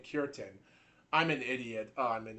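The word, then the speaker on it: Cureton: So, I think his last name is Kurin. It has to be Kurin. It is Kurin.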